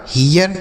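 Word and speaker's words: hear: इ ए का उच्चारण इ ए के रूप में आर से ये हो गया हियर क्या हो गया बच्चों हियर तो अगर इ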